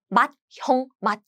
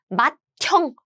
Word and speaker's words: 맏형: With more air sound, they're combined as 트. So the pronunciation is not 맏형. 부. The correct pronunciation is 맏형.